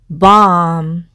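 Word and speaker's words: balm: 그리고 다음 단어 해서 bomb 이라고 읽고 이것은 연고라는 뜻이 있는데요.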